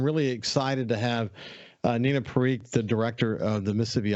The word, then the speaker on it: Parikh: do I say it right when I say Parikh it's perfect yeah I just wanted to make